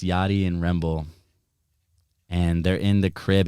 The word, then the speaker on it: Remble: Is it Rembley or Remble? Remble, yeah. What is it? It's what's that video called? Just look it up. Fucking, it's Yachty and Remble.